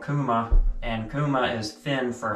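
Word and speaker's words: Kuuma: Now, there is a high-end stove company called Kuma, and Kuma is Finn for hot. It's spelled K-U-U-M-A.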